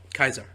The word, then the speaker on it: Caesar: It's that in like in Rome, which where what they're basing their empire on the there's no C. It's it's Kai. It's it's K. It's Kaisar.